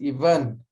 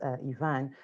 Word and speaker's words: Ivan: When I'm in Europe or in Swahili land, it's Ivan. The English call me Ivan. Good. I'll adopt the Swahili's own pronunciation, which is Ivan.